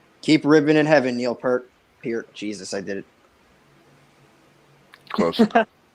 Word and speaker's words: Peart: Keep ribbon in heaven, Neil Peart. Jesus, I did it. Close. Peart. I gotta drill that into my brain because I keep saying it wrong.